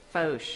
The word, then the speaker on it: Foch: Okay, we are at 925 Foch Street. Foch, okay. Yes, I wasn't right sure. Outside Foch, Foch, yeah.